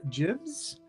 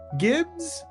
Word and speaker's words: Gibs: uh we have Chester jibs I Chester can you just nod to make sure I pronounced your name correctly I keep on is it Gibbs or jibs Gibbs oh God I went jibs sorry Jester Chester Gibbs